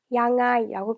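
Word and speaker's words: ยังไง: 양라이라고 하면 태국 사람도 발음하기가 불편하기 때문에 보통은 양라이라고 하지 않고 이렇게 표현합니다. 양아이라고 표현해서 모니 빼냥아이방 모니 빼냥아이방 이렇게 표현해요.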